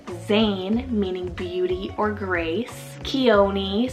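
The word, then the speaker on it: Khione: Chione, spelled K-H-I-O-N-E, Chione.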